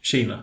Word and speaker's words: Kina: Kina.